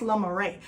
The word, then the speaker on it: Le Marais: So I wanted to talk about this beautiful Chanel bag, and this bag is the Marais, I believe it's pronounced La Marais.